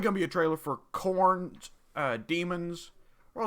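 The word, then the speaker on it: Khorne: actually don't remember but his name is spelled like this k-h-o-r-n-e so you forget that it's corn okay there's probably going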